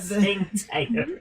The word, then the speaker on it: Tsingtao: It's spelt Tsingtao. But Qingtao.